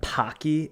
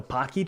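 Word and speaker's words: Paqui: pepper can be good have you had Pocky it's spelled p a q i i it's a brand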